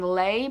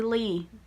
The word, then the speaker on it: Leigh: for the longest time I've been saying Leigh bardugo it's actually Leigh there's something for you if you didn't know how to pronounce it either um oh